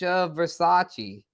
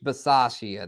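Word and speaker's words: Bisaccia: have done that with uh what say Rich Versace I Versace Rich veras I don't know how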